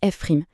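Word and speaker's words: f′: La fonction dérivée, on la note F prim, on prononce F prim.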